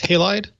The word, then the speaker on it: Halide: alright so you Leo you said this is pronounced halide is that silver halide